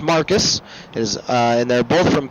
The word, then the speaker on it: Marques: night Dan Cox and Luke marks Marcus I'm sorry I'm I'm reading then he told me how to pronounce it it's not I'm not pronouncing it how it's supposed to be it is Marcus his and they're both